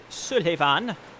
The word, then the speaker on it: Sulyvahn: way to fight pontiff's Suliban su davon it's his name that's how you pronounce it if you say it any differently you're wrong Oh God now God